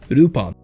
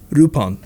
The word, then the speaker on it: Rupan: translates as lupon iii because the name was pronounced as rupan japan that allowed him to avoid copyright issues since the original name lupon troubled the owners of leblanc's estate back in france but rupan brought over a loophole you see urupan is definitely a different name as there's no longer an l at the beginning of the work and